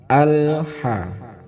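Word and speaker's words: الحمد: Terkadang kita mengucapkan karena terburu-buru membaca atau terburu-buru melaksanakan sholat, ini menjadi qalqalah karena lam itu bukan termasuk huruf qalqalah. Cara baca yang benar adalah al-ha, tidak boleh memantul. Al-ha, kalau bisa lidahnya itu tidak ditekuk, lidahnya nempel di rahang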